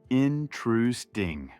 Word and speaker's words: interesting: Intrusting.